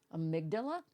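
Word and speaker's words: amygdala: I could pronounce and let's see how Google pronounces it because I'm just you know pissed off at myself amydala yeah mdala amydala okay so I was way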